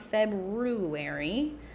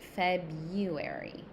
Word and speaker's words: February: It's not February. That R is silent. February August gest August okay